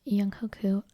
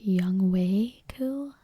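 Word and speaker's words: Younghoe Koo: Young Hoku, someone commented and said that it's pronounced Young Wei Ku. If that's the case, then I will start calling him Young Wei Ku.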